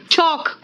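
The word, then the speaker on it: chalk: अब आओ next L, देखो बेटा कहां कहां साइलेंट है, देखो एल साइलेंट कहां कहां है, इट्स बम, पाम, चौक।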